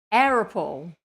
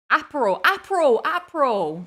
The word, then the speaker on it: Aperol: How do you say that drink? Oh my god, I'm glitching out. Arapple. No. Aperol. That's how you say it, I think.